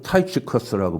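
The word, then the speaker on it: Tychicus: 영어로는 발음이 완전히 달라요. 영어로는 타이츠커스라고 발음을 하는데 예 두 기고는요.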